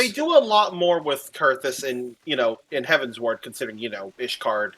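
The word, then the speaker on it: Coerthas: For the longest time, I always pronounced it Coerthus, or like I put way too much emphasis on it because, up until Heaven's Ward, they don't actually say the place's name.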